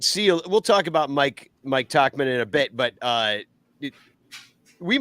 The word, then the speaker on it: Tauchman: Nobody can pronounce it. Yeah, but he's also Tauchman. got 3 at bats. It's Tauchman.